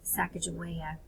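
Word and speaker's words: Sacagawea: really important Indian guide named sakaja it is pronounced different ways but she was key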